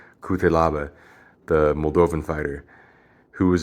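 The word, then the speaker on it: Cutelaba: won it's ion so people say ayan kutalaba but i think it's pronounced i won kute lava the moldovan fighter who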